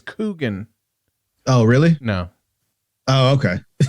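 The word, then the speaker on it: Keoghan: I think you pronounce his last name Keegan. That's what I had thought it was, Keegan. But then I came out and found out it's Coogan.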